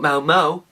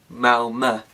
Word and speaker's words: Malmö: Not Malmo, Malmö. See? Thank you Petra for telling me how to pronounce it. Obviously I haven't spoken to her, but she said it a lot of the time, so everyone knows it's Malmö, not Malmo.